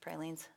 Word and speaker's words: pralines: That's how you say it in New Orleans. Pralines.